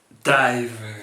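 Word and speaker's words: DIIV: écoutez absolument thiser euh de dive qui s'écrit di i V alors vous allez me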